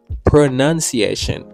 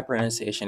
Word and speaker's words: pronunciation: ça capable dire my pronunciation is not good or you can say my pronunciation is bad. Alors, je conseille ou pas dire pronunciation encore, c'est plutôt pronunciation.